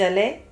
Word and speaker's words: allée: just add a E. Yeah, which is silent because it's on Silent, the end.